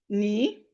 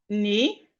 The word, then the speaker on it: knee: Here, K is silent. We have knife. We have knee. We have knee.